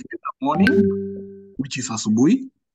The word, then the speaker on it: asubuhi: you are getting it wrong a bit because you are not pronouncing the words as they are. Subu. Oh, Sue. Okay, sorry. I can't read properly, you know. Asubu. Hi.